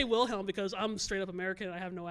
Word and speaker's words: Wilhelm: But I think in German, like the W does make the V sound. It does. Yeah. I'll just say Wilhelm because I'm straight up